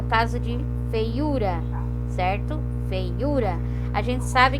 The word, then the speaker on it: feiura: No caso lá, a palavra é feiura, a sílaba mais forte, então é o U.